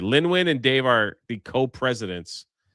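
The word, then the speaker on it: Lynwen: Lin Win. Oh, it's Yeah. Lin Win. Are Yep. very on board for. So Simon is supposed to kick out the next trilogy. Lin Win, that's right. Lin Win and Dave are the co-presidents of Lucasfilm now.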